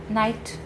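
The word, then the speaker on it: knight: spell correctly so why because night K to silent now there are there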